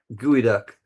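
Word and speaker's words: geoduck: San Francisco gooey duck. I know it's spelled gooey duck.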